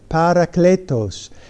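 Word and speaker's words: παράκλητος: But right below it is how you pronounce it, parakletos.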